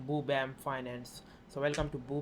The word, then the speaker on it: Boo Bam: So it is said like Boo Bam Finance.